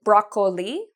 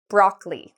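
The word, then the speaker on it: broccoli: Chúng tôi không phát âm này "o". Đuợc? Vì vậy, nhiều sinh viên nói "brocc-o-li", nhưng chúng ta không nói "bông cải xanh", chúng ta nói: "broccli".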